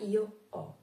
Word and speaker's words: ho: La pronuncia della H è molto importante in italiano perché è diversa dalla pronuncia della H in tedesco.